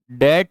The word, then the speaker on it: debt: Debt शब्द की वर्तनी में 'b' अक्षर है। लेकिन बोलते समय हम इसका उच्चारण नहीं करते।